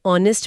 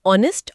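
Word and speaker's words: honest: जैसे ऑनेस्ट मैन या आवर में एच अक्षर साइलेंट है। हां। तो ध्वनि वल की आती है। ऑनेस्ट और आवर।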